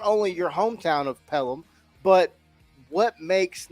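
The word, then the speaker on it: Pelham: where you're going to school you are from pelum Alabama I am I pronouncing that correctly is it pel yes yes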